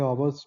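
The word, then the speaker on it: hour: तो इसमें यह जो वोवेल है इसके साथ एन आएगा या फिर नेक्स्ट है कि it took A आवर्स to reach there तो इसमें एच साइलेंट है तो हमें इसके साथ एन लगाना पड़ेगा।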